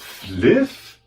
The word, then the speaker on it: Flyff: Du meinst Fliff? Da spricht man doch nicht Fif aus.